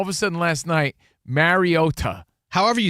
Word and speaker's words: Mariota: All of a sudden last night, Mariota.